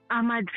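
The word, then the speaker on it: Madz: Mads po. Mads. Okay. Opo. Si Mads. Ah, how do you spell that?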